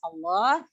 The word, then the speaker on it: Allah: Sebenarnya huruf lam itu adalah huruf tipis ya, tapi khusus pada lafzul jalalah ya, lam dibaca melihat huruf sebelumnya ya. Cara membacanya apabila yang pertama, apabila lafzul jalalah didahului oleh huruf yang berharokat fathah dan dhamma, maka lamnya dibaca tebal ya, atau tafkhim.